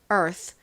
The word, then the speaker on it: Earth: 바람이 그냥 훅 빠지듯이 소리가 나거든요 그래서가 아니라 Earth Earth 이렇게 소리가납니다 바람이 훅 빠져 버리니까 거의